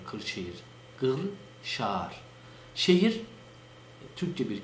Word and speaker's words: Kırşehir: Çünkü Kırşehir'in Osmanlıca'da yazılışı kefle değil, yani normal k ile değil, gafla yazılmakta. Gı diye okunur bizim orada Kırşehir.